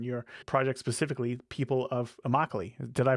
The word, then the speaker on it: Immokalee: you do, and your project specifically, People of Immokalee. Did I pronounce that right? Yes, Immokalee. Immokalee.